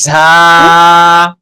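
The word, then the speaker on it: ز: আলম ভাই হ্যাঁ, তাহলে সিটি বলবো, এই সিটি যেন, এই আওয়াজটা যেন অবশ্যই আসে, তাহলে শব্দটার সঠিক উচ্চারণ হবে ঝা।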